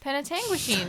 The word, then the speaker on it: Penetanguishene: Penetanguishene, that's what it's pronounced.